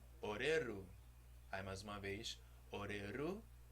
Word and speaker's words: Oreru: das palavras são oxítonas então a sílaba forte é sempre a última não é oreru oreru e nem perdão não é o livro nem horário é o Lilo aí amando Tupã sempre a última sílaba que é mais forte agora vamos tentar cantar